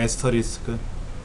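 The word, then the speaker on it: asterisk: 요거 별표처럼 우리가 별표라고 쓰는 거 얘는 본래는 에스터리스크라고 읽어요. 에스터리스크.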